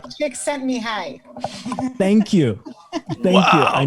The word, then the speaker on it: Csikszentmihalyi: I'll never be able to pronounce his last name. Csikszentmihalyi.